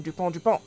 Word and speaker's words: Dupont: to do pause because there's dupont that ends with a t and dupont that ends with a d and they're both pronounced the same duponte but it's easier to